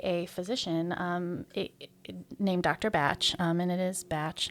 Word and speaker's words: Bach: know I keep saying Bach in my head and I have to correct myself and say no it's batch it's batch it's bad it's bad